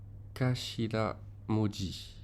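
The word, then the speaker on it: 頭文字: Donc ça se prononce Kashira Moji, qui sont effectivement les premières lettres d'un mot, donc les initiales.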